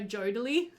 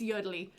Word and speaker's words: Yodely: Sorry, I think it's Yodely, because that's, sometimes she says her own name while she's recording. Like, she'll say, "Oh, great job, Yodely," or something like that, like just something kind of sarcastic. And that's kind of how I picked up the way that she would say her name.